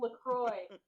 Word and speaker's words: La Croix: LaCroix. I'm Oh, totally. God. Oh god. Oh god. Oh god. But the L's pronounce it La Croix.